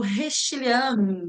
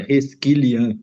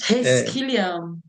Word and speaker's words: Reschilian: então, sem mais delongas, Paulo Romano Restiliano, é assim que pronuncia? Seja muito bem-vindo. Bom dia, Meire, e a todos e todas que possam estar nos assistindo. É Resquilian, mas Resquiliano, vai ser muito sempre bom.